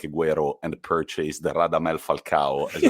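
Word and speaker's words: Agüero: i studied languages and it's not aguero it's aguero why because it's got the two dots on the u which makes the u to be pronounced sorry little language did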